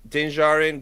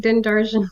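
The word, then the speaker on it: Din Djarin: just Jordan yeah like denzarin grogujarin yeah I've been saying dindarjan this whole time no the D is silent come on this mandolin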